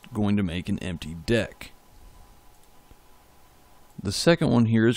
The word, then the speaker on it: deque: to be going over decks yes that's how it's pronounced as deck as in a deck of cards so the first thing